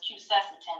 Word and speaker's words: quercetin: often add quercetin, or I say it wrong all the time. It's quercetin, I think.